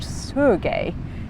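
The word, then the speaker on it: Sergei: he exclaimed in surprise it's not surge sir Judy it's pronounced Sergey sir guy oblimov repeated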